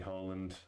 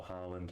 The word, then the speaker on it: Haaland: Seen Haaland, or Haaland, however anyone wants to pronounce it. I know even Haaland said you can say it in a different way.